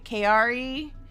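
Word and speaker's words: Chiari: So, it's called, let's see, it doesn't sound like it's spelled. It sounds like KRE, like the three letters KRE. KRE malformation type 1, which is the most common version of this pretty uncommon situation.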